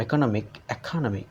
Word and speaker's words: economic: is attached to from economic, the stress shifts to the syllable immediately before the suffix.